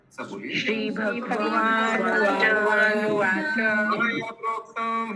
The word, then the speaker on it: मया: भगवान का मया मया होगा ना, माया नहीं होगा। ट्रांसलेशन में दिया है बाय मी, मेरे से। मया मैं ही लिखा प्रभु जी, मया लिखा है ना। मैं प्रोनाउंसिएशन में माया बोला। मया।